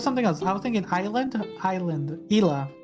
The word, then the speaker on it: Isla: made a comeback ela that's right yeah or isla isla that's right i thought i thought something else no no it was something else i was thinking island island ila it's isla island my bad i'm